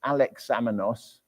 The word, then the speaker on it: Alexamenos: It's called the Alexamenos graffiti, and it's spelt how it sounds, Alexamenos, and it was found